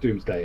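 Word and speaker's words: Domesday: Well, it's pronounced Doomsday. Yeah, it's pronounced because Doom.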